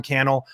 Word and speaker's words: Cannell: And hey, tag me on Instagram at Sean Cannell, rhymes with YouTube channel.